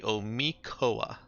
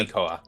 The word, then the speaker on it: Omikoa: the pronunciation, is actually Omikoa. Yeah, Omikoa. the TL sound at the end of that structure is either silent, like in Soshi, or when there's something else after it, it's a K.